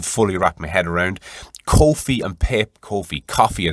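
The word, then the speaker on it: Ko-fi: pat mccone mentioned this i think it's coffee it's pronounced k-o-f-i it's an alternative to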